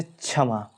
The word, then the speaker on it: क्षमा: पर ध्यान दिया जाए जैसे क्षमा क और स से मिलकर छ बनता है और ज्ञानी जैसे ज्ञान